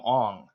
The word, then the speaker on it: Aang: movie they called him on and the reason that he decided to do that is because he was like well that would that's how you pronounce his name in Mandarin in Mandarin like he